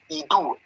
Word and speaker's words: Idu: I-D-U. Idu. It doesn't matter how you pronounce it. Idu or Idu.